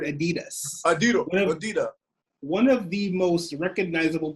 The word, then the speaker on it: adidas: of knowledge he's like oh who threw that adida he cannot even pronounce the word adidas one of the most